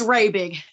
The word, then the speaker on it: Rabig: And I forgot I was meant to ask how to pronounce your last name. It's Rabig.